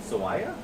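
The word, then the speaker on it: Aiah: how to pronounce this oh God Sawyer so a-i-a-h swaya I like that you're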